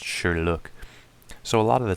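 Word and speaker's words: Sherloque: Sherlock wells's name correctly they would always say Sherlock or sure look but it was pronounced sure look so a lot of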